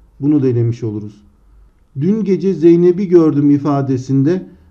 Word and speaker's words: Zeynep: Dün gece Zeynep'i gördüm ifadesinde. Arkadaşlar Zeynep'teki P ünsüzünün yumuşadığını görüyoruz. Özel isimlerde yumuşama okunuşta olur, yazımda olmaz.